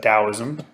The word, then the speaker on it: Taoism: gonna start with Taoism it's either spells sometimes with the tea sometimes with with Addie but pronounce that Taoism or the way then we're going to